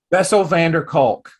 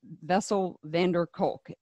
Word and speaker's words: Bessel van der Kolk: Bessel van der Kolk. I don't actually forget. I just don't know how to pronounce it. Bessel van der Kolk wrote The Body Keeps the Score. Bessel van der Kolk, yeah.